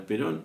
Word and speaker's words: Perón: El apecido original de los perón es perón, es italiano.